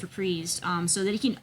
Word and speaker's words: Reprise: label um reprise records that is how it's pronounced reprised um so that he can own his own